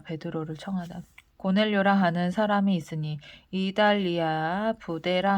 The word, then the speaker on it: 고넬료: 가이사랴에 고넬료가 베드로를 청하다. 고넬료라 하는 사람이 있으니 이달리아 부데라 하는 군대의 백부장이라. 고넬료. 왜 고델료라고 읽어? 고넬료.